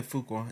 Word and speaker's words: Fuqua: So the director, Daniel, am I pronouncing his last name correctly? Fuqua? Yeah, Fuqua.